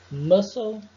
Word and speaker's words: muscle: A letra C fica muda depois de um S. Veja os exemplos abaixo. Muscle, scissors, scenario.